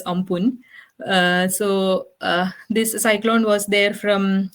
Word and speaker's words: Amphan: Now let's discuss about the super cyclone in May, which is called, it's actually written as Amphan, but I read somewhere it's pronounced as Ampun.